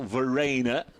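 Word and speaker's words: Verreynne: a maximum attendance here to see it Kyle Vena as now we're we're learning is the correct pronunciation also on debut so heaven knows what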